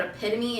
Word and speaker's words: epitome: And the funny thing about this story is that like everyone really knows what epitome is.